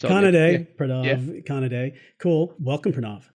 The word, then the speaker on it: Kanade: Trends with Benefits my guest today is pav Canad did I pronounce that right kanad day but it's Kan day perov conad cool welcome perov thank you thanks